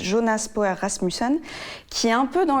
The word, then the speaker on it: Jonas Poher Rasmussen: Je vais vous parler de Flea, qui est un documentaire d'animation danois, en partie danois de, je vais le prononcer à la française, Jonas Poher Rasmussen, qui est un peu dans la même veine que Valse avec Bachir, d'Harry Folman.